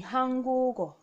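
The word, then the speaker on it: 한국어: Okay, so it will be Hanguk-o. Okay, the pronunciation will be Hangugo.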